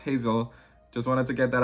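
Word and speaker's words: Geyssell: Hazel, it's Hazel, okay? So it's pronounced Hazel. Just wanted to get that out there. I know it's spelled a little weird, or different, but her name is Hazel.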